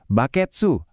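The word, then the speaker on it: バケツ: Terus pasangannya, baketsu atau baketsu. Nah, baketsu ini juga kedengarannya mirip bucket kan, jadi lebih gampang buat dihafal.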